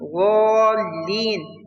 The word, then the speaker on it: الضالين: And the wad and the lam in ghalin should be pronounced with heaviness.